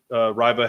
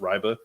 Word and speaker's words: Reibe: shooting you're going to win um this kid Riva has apparently is it's pronounced riba um riba has good post moves he's just